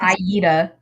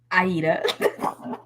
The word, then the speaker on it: Aida: Not Aida. Aida.